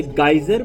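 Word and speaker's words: geyser: हाँ, हम इंडिया में गीजर बोलते हैं, पर अमेरिका में वहाँ इसे गाइजर प्रोनाउंस करते हैं।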